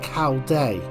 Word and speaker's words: Caldy: showing it to you historically C has been pronounced C Day and The Village dates